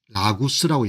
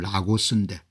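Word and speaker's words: Lagos: 라구스라고 여러분들 이 사람들 발음하는 것 같네요. 영어 표현은 라고스인데 1444년에 최초로 235명이 거래가 되는 겁니다.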